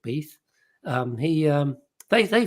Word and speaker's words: Beath: george gruber and dick beath i think they say pronounced dick beeth um he um they